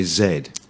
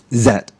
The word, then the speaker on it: Z: is always wrong so what is the right way to say to say Z well I now this is the thing um if you're English or maybe Old English like me then you would say Zed zet but if you're if